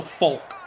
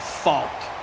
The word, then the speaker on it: Faulk: glash the other night people were saying I was pronouncing Marshall Folk's name wrong folk they say it's like they say it's like Faulk I say a l l k Faulk is it FK oh you you fall down it's Faulk yeah it's fault I